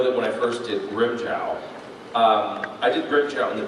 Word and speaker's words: Grimmjow: And so I had always called him Grimmjow, or Grimmjow. And when Wendy was directing me in the anime, she's like, no, you need to pronounce it Grimmjow, okay? And so I pronounced it Grimmjow.